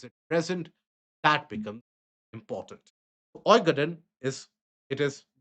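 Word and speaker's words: Øygarden: Oigaden is it is pronounced as Oigaden.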